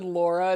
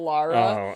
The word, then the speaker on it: Lara: saying his name but you also said Laura instead of Lara we knew that was